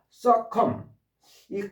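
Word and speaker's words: succumb: 자, 서컴이 컴이요. Cu 이게 비가 발음이 안 됩니다.이 비가 바이러 안 돼. 사일런스예요.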